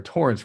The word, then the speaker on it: Torrence: who's bent or torrence rather do people call you terrence man people say it right to my face right after i tell them my name like point nine seconds later oh man